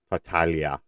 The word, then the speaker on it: Tartaglia: like this on uh tartaglia tartaglia uh I always forget how to pronounce that it's very you know fatalia I believe is the correct pronunciation that g isn't like a hard G sound like I believe is